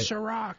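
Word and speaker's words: Cîroc: Ciroc.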